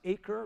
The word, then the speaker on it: Acre: a city called Akko in English it's pronounced acre like the acres of land it's north and Haifa